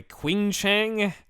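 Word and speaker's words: 青城: to say it anyway Queen Chang spell it q i n g c h e n g Qi is usually CH Chi I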